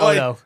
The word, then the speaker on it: Oto: Oto Seline could very easily be mistaken for like Auto Salen or something like that. That's what you would think, but it's Oto. Like if you looked at his name, it's O T O which we all thought it was auto s a l i n like sailin Seline.